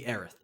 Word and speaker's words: Aerith: and no okay so her name is supposed to be aerith because it is a e or i t h a e r i t h because it is close in pronunciation to earth which is story spoilers